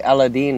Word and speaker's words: Aladdin: with aladdin for sega actually aladine is how it's pronounced really then i guess we're being racist by saying aladdin it is actually racist